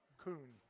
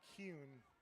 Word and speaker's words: Kuhn: Kuhn, like a raccoon. I was saying Kuhn, like Bowie Kuhn, the former baseball commissioner.